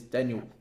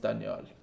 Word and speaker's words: Danial: is your name man my name is daniel is daniel but in my country it's pronounced danielle but usually people call me daniel uh so yeah obviously